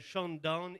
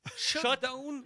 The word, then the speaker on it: Shutdown: Il s'appelle Shutdown. Oh là là là là. Il y a un T, là. Ouais. Il n'y a pas un D. Shutdown.